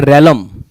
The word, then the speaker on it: realm: REALM, इस word को पढ़ा जाता है रैलम, रैलम पढ़ा जाएगा, प्रोनाउंसिएशन सही रखिएगा।